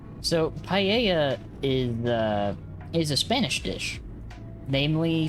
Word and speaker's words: paella: It is spelled in a way that does not look like it's pronounced that way.